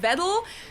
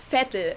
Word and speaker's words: Vettel: many americans pronounce sebastian vettel but in germany we would say sebastian vettel so the v is pronounced like an f here he currently competes for